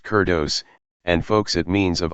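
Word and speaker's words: κέρδος: Greek word for Luca is kurdajay and is pronounced kurdos and folks it means of Uncertain Affinity gain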